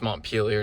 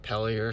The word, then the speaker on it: Montpelier: still in Mont peeler turns out it's Mont peeler not pelier so I was saying it wrong for most of yesterday um yeah so 9:22